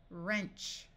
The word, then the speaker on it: wrench: this should be WR WR at the start of a root the W will be silent so this sound is r ER wrist wrist wreck we can add suffixes wrecking wrap wrapper wrapping wrench Ren a ren is